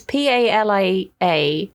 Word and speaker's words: Palia: out at some point called Palia or Palia. It's Palia. Okay.